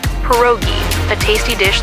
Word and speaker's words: pierogi: Pierogi? Did I pronounce that right? It's pronounced pierogi, a tasty dish like dumplings.